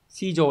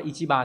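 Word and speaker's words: 市場: Mặc dù shijo là thị trường, Nếu đọc là Ichiba thì có nghĩa là chợ, nhưng đây chắc là thị trường, đọc là Shijo nhá.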